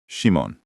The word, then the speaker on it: Szymon: Or, you can give a pronunciation tip, like I'm Szymon. It's pronounced Shimone.